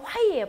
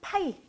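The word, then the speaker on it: phi: 그리고 요거는 자, 원래는 화이예요. 발음 자체가 화이인데 한글식 발음을 하다 보니까 그냥 파이.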